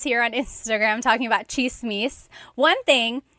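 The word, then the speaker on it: tsismis: on Instagram talking about chismis. One thing, in Tagalog, it's spelled with a TS. The TS combination makes that cha sound.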